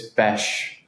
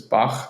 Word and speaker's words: Bach: I know the pronunciation is something that trips many people up, and people think it's Bash Films or Back or Bach, but it's Bach.